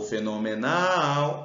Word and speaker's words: fenomenal: é só chamar o fenomenal é oxítona a sílaba tônica é o Nal e funil o funil